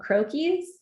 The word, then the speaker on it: croquis: right in illustrator um there are things called croakies um and that's what you they're like little